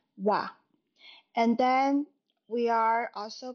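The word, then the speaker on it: は: here to note that the word ha when it's being used as particle it should be pronounced as wa and Then we are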